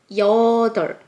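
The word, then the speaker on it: 여덟: Here there's double batchim, lieul and pieup. So, you might be confused when you pronounce of this, like yeodeol, like that. But, actually the real pronounce of this is yeodeol. Yeodeol. The batchim pieup is kind of a mute. So, just say yeodeol.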